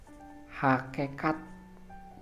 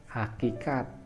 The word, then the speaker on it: hakikat: tidak sama pada juga ada Hai hakekat pada hakikatnya ya Hai nah ketika kita melontarkan kata itu itu pengucapan yang salah yang betul ialah hakikat selanjutnya kata Jenderal sebetulnya seharusnya